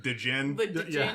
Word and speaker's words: Djinn: It's spelled with a D, like Django. Like That didn't help. Like the Djinn. the Yeah. Djinn.